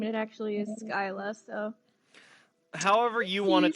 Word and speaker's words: Scylla: pronounce my character's name and it actually is skyla so however you want it to be pronounced is the right way if you like scilab better then we will stick with syla but if you prefer skyla skyla will work